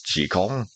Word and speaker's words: Jekyll: It's not Robert Louis Stevenson, damn it, any more than that doctor's name is pronounced Jekyll, and everyone knows it's Jekyll.